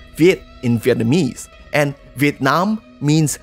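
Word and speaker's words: Việt: related to the vietnamese the word ue is pronounced viet in vietnamese and vietnam means southern yue but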